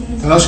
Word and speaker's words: تلاش: تلاش كرنا يبحث. تلاش. تلاش كرنا تلاش ولا كلاش؟ تلاش ته والله. تلاش كرنا بس عشان الالف مفخمه في النطق.